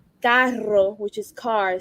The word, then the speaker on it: carro: Some of us pronounce it with the like carro, which is car. Some of us say cajo.